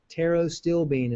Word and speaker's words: Pterostilbene: Pterostilbene is how you pronounce it.